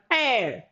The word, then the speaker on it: heir: All right, air or HEIR, air.